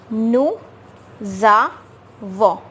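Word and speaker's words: nous avons: We will link these two words, this S and A.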